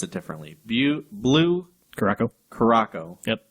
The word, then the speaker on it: Curaçao: Curaçao. Yep. I've also heard it called blue curacao. What? Yeah. Where's the L come from?